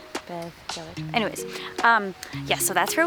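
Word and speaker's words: Beddgelert: It's spelled Bed Gellart. Bed Gellart, like a sheep, he said. Bed Gellart.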